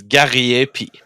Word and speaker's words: Gariepy: even if I try to tell it to you, you won't ever pronounce it correctly. It's Gariepy.